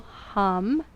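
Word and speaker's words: ham: observe your next inhale silently whisper to yourself the syllable hum h-a-m and as you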